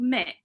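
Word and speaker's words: Muick: And the other one is called Mick, and Mick is spelled M-U-I-C-K.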